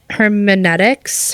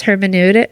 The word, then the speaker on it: hermeneutics: Um, I just learned the word I I'm going to butcher how to say it, but hermenetics. Hermeneutics. Have you heard of that, Rebecca? I think it's hermeneutics.